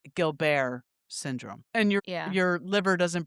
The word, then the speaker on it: Gilbert's syndrome: it's spelled Gilbert's syndrome syndrome, but it's pronounced Gilbert syndrome.